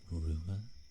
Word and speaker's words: Ruadh: My name is pronounced Rua.